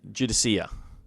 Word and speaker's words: Judiciar: pronounce that because yeah the judas jude is judicia judicia is the way they pronounced it on the live stream i don't